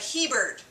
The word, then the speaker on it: Hebert: Hebert. It's like Hebert.